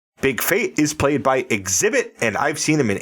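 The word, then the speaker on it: Xzibit: in 8 Mile I when I first saw that name exhibit I did not know how to pronounce that I'm like x z i b t what the hell is that but once you see the pronunciation it kind of makes sense yes the two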